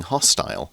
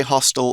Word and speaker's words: hostile: It would be being hostile. And you can say hostile or hostile. Both pronunciations are okay.